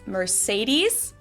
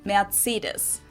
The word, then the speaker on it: Mercedes: So most Americans call this Mercedes. In German, we pronounce it Mercedes.